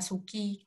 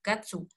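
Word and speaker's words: 月: dalam bahasa Jepang itu kanji kanji bulan ini sebenarnya dibacanya juga bisa Suki bisa Gatsu bisa getsu tapi kalau untuk mengarah ke kata bulan bulan benar-benar bulan Januari Februari Maret April Mei dan sebagainya itu kita pakainya Gatsu tapi kalau bulan di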